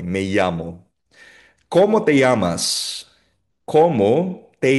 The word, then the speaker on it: me llamo: Ang double L o double L ay binibigkas na parang Y, me llamo.